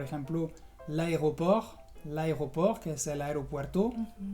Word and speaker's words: aéroport: consonante, vas a encontrar muchas palabras que se terminan en RT y la T no se pronuncia. Por ejemplo, l'aéroport, que es el aeropuerto, o le dessert, que es el postre.